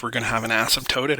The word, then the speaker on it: asymptote: But that is an asymptote, not an asymptote. Please make sure your pronunciation is on point there.